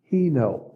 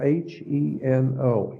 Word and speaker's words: Heno: The word is Heno. It's spelled H-E-N-O, Heno.